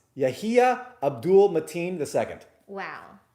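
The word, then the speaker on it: Yahya: first name yeah it's it's y-a-y-a but it's pronounced yahia abdul mateen ii got it he's a great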